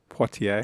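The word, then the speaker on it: Poitier: That's That's not fair on the Irish person who can't pronounce what is it? A French person's name? Poier. Poier.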